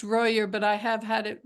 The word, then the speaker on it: Royer: Oh, it's mostly pronounced Royer, but I have had it be Oh, Royer before, so it's fine.